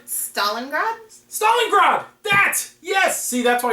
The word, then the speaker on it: Stalingrad: and I believe this was from 1971 called Stalingrad? Stalingrad? Stalingrad! That! Yes! See, that's why you don't have me pronounce things.